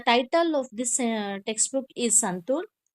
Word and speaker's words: santoor: The sound of O in Santur is long. Santur, you say no, Santur.